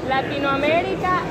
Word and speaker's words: Latinoamérica: No, you said it wrong. Latinoamerica es lo mejor.